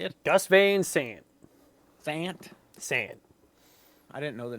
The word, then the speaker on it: Gus Van Sant: Gus Van Sant.